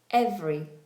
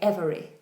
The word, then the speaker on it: every: Rather than being three syllables, um it's now in most cases two syllables. So um every every and that's acceptable. So you can pronounce it however you like. If you want to speak and sound very very posh, very well educated and um upper class, then you might say every with three syllables. But most people say every every.